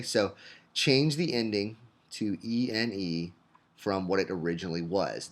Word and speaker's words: ene: And those are pronounced ene and ine.